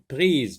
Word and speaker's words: prise: Une prise. Prise. Pr avec I. Ça se lit pris. S, on le sait, lorsqu'il est entre deux voyelles, il se lit z. Une prise.